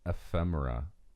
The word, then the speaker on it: ephemera: How do you say ephemera. Is that correct? Yeah, Like that's right.